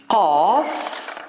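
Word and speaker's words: ق: So the difference between fa and qa. Qa, it's like a crow. Qa, qa. Okay? And it's similar to Q.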